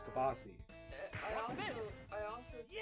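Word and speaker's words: kielbasa: they like they like uh and also it's pronounced kabasi. It's not kilbasa. It's kabasi.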